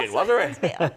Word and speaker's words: chinoiserie: Chinwazzery. Chinwazzery.